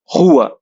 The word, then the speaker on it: rua: R, R. This one is spelled as GH, like sound in roast. So this one we'll spell as rua. You can also say rua if you can spell the sound.